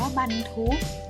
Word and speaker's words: บรรทุก: ของ ใส่ ลัง บรรทุก ออก เสียง ว่า บรรทุก หมาย ถึง วาง ใส่